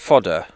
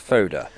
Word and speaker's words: Foda: We did a festival called Now, I call it Fodder, but apparently it's pronounced Foda.